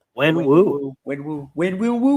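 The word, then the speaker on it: Wenwu: When Wu.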